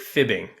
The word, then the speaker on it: F.I.B.ing: Stop F.I.B.ing yourself. Right, Or Gary? you could just pronounce it fibbing. I know. Okay. I'm fibbing, but I like the F.I.B.ing a little bit better.